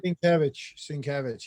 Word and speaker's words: Sienkiewicz: You're art dealer for Alex Ross and Bill Sienkiewicz. Am I pronouncing that correctly? Sienkiewicz, yeah.